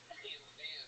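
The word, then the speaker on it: Tampham: For those of you that didn't read his shirt, Tam Fam is spelled T-A-M-P-H-A-M. Word to that. Oh yeah. Heavy on the PH.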